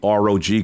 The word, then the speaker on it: ROG: you said it right they get mad at me because I call it the rock right it's not raw it's the Rog called I'm like well I'm